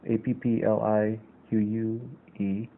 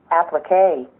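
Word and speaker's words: appliqué: you pronounce it it first of all spelt Appl i qu e and it's pronounced as applique applique you can see the portion where it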